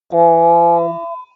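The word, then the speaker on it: ق: Next letter is qaf, qaf, qaf. Next letter is ka, ka. These two letters, qaf and kaf. Qaf letter is heavy letter, pronounced in heavy. Qaf and this letter kaf look like simple.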